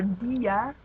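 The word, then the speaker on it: día: Um, so like words like Rio or dia, the reason the I is emphasized and strong is because it has the accent mark.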